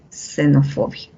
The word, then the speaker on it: xenofobia: la zeta xenofobia ya saben en xenofobia al inicio de palabras suena como una s xenofobia en gentiles así tienes